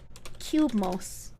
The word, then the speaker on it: Cubemos: Cubemos, it's Cubemos, spelled like that.